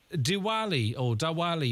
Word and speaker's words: Diwali: Diwali, if I'm pronouncing that correctly.